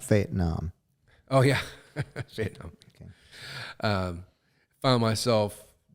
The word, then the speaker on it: Fayetteville: Carolina okay Fayetteville North Carolina and uh it's pronounced fate Nam oh yeah um found myself uh drinking like